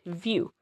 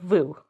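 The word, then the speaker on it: Vu: Just so long as say your oh audience instinctively instinctively pronounces it View instead of Vo.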